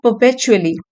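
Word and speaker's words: perpetually: फिर है परपेचुअली, are silent है, परपेचुअली लगातार बिना रुके हुए, एडवर्ब है ये, एल वाई से फिनिश होने वाले वर्ड्स ज्यादातर एडवर्ब होते हैं।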